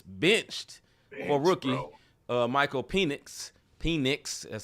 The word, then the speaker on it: Penix: Penix, that's how you say his name.